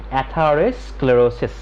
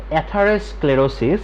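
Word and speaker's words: atherosclerosis: তো এইটার প্রোনাউন্সিয়েশনটা পাশে দেখো লেখা আছে, ওকে, প্রোনাউন্সিয়েশন আমার সাথে করো, অ্যাথারোস্ক্লেরোসিস। অ্যাথারোস্ক্লেরোসিস এটা একটা ডিজিজ, এবং অ্যাথারোস্ক্লেরোসিস ডিজিজটা হবে যদি কারো ভেসেলের মধ্যে বা ভেইনের মধ্যে অতিরিক্ত পরিমাণ চর্বি জমে।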